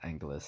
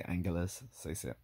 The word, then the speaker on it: Angeles: And you notice I pronunciated that two different ways. That's because I'm not sure, because I've heard people pronounce it both ways, including the Filipinos themselves. Some say Angeles, some say Angeles. I don't know.